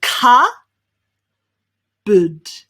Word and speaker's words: cupboard: even though that's the way it's written instead we say ca bud perfect cupboard so much